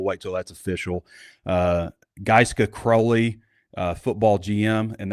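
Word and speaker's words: Gaizka: uh Giska Crowley uh football GM and that's so it's spelled G- AI ZKA but it's like GISA like ice giska giska crowley um senior will CJ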